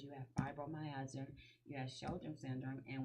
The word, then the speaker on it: fibromyalgia: So fibromyalgia, did I pronounce it correctly?